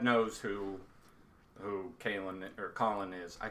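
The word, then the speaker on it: Kahlan: always always called her K I know but apparently even Terry good gang was like no her her name's Colin it's Colin which it's spelled k a h l a k a h yeah L A an so I mean okay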